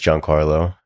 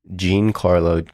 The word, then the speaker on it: Giancarlo: introduce myself as Giancarlo, but then when I hear people mispronounce my name, whether it's like Gene Carlo, Carlos, anything that's other than my name, I I go through like a mental battle.